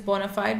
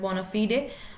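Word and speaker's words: bona fide: is sometimes I would say like the best pronunciation is Bonafide but you might hear people pronouncing it bonafed which is sometimes strange but it's fine if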